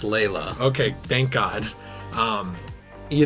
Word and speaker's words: Layla: i believe or delilah laila okay i thought i was saying it right but the roof crowd here wants my neck so don't worry it's layla okay thank god um